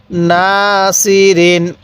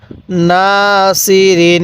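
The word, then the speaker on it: ناصرين: জবর না সদ জের সি র দুই জেরিন নাসিরিন নাসিরিন কিভাবে পড়বো বা কিভাবে পড়বো নাসিরিন হ্যাঁ আরেকবার পড়ুন নাসিরিন এটা অনেকেই সিন উচ্চারণ করি না এটা সৎ উচ্চারণ করব তাহলে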